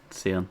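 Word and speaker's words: Scion: Someone told me it's a ruin. Seion. Seion. Oh, that makes way more sense. Yeah. It's not a scone of ruin.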